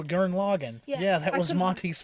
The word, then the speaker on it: Gurren Lagann: I think Gurren Lang, I can't remember how it's pronounced. One with Yoko in it. Oh, Gurren Lagann.